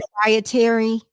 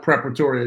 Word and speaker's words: Preparatory: You're on the board of the Peace Yep, Proprietary, am I yep, saying it right? yep. Preparatory Academy.